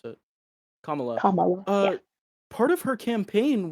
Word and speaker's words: Kamala: Um, and similarly, uh, is it Kamla or Kamala? Is it Kamla or Kamala? I forget. There's like a right way to pronounce it. Kamala.